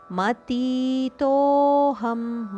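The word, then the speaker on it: ಮತೀತೋಽಹಂ: ಯಸ್ಮಾತ್ಕ್ಷರ ಮತಿತೋಹಂ ಮತಿ ತೋ ತೋ ದೀರ್ಘ ಅದಕ್ಕೆ ಅವಗ್ರಹ ಇದೆ ಆದ್ದರಿಂದ ಒಂದು ಕ್ಷಣ ಜಾಸ್ತಿ ಉಚ್ಚಾರಣೆ ದೀರ್ಘದ ಉಚ್ಚಾರಣೆ ಯಸ್ಮಾತಕ್ಷರ ಮತಿತೋಹಂ ಅಕ್ಷರದಪಿಚೋತ್ತಮಹ ಅಕ್ಷರಾದಪಿ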